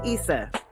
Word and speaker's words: Issa: and right now I'm using ESA's voice which is pronounced Issa that is this how